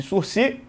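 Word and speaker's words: sursis: de sur processual e escrevemos suris a palavra é uma palavra ca não pronunciamos o s no final o Ministério Público então poderá oferecer a proposta de surc e o processo se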